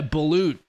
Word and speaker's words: balut: worry guys moving on yeah balut yeah yeah balut that's how you pronounce it i'm not gonna put on my